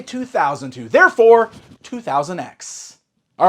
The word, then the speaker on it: 200X: Yes, I say 2000X. I always see criticism on that. I always see arguments on how that's actually pronounced. I think 2000X is the correct way to pronounce it.